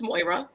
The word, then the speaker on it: Moira: people couldn't read it okay it's moira it's fine it's it's